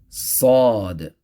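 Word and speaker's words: ص: shu shi next letter sod same as the letter seen but with the full mouth so same place as seen enza actually but it has that sound of a full mouth so saw so again the muscles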